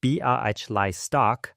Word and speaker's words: Białystok: On the next stoop east, a Jewish family from Białystok, Poland, pronounced Białystok, has dragged kitchen chairs onto the stone.